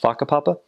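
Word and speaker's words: whakapapa: words that um like the word genealogy is pronounced faka Papa and obviously as a mission like did you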